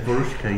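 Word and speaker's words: Veruschka: My favorite song is Verushka. Is that correct? Or how do you say it? Verushka. Verushka, yeah.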